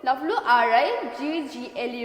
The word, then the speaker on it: wriggle: You have to just think that this W is not here.